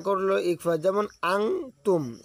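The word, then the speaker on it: أنتم: যেমন আং তুম, এখানে আন বলা যাবে না, এখানে বলতে হবে যে বাংলায় লিখিয়ে দিয়েছে আং তুম।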